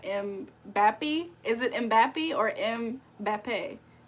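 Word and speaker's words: Mbappé: It's pronounced like Mbappe.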